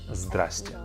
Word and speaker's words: здрасте: If you do have problems with it, we have another, I guess, variation of it, more of a shorter way to say it, and that is здрасте. Здрасте. Здрасте is simply the same exact word hello, but a shorter version. It's going to be easier for you to pronounce it.